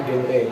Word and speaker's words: GenRe: Kalau genre di sini itu bacanya genre, G-nya dibaca G, genre, dan arti dari genre